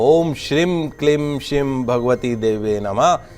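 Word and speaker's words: श्रीं: दिने पुनः उच्चारण सुनिए ओम श्रीम जब श्री के ऊपर बिंदी लग जाती तो मा ओम श्रीम क्लिम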